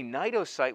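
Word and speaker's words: cnidocytes: these distinctive cells called nitrocytes get it the c is silent so just pronounce it with an n a nito site which i put a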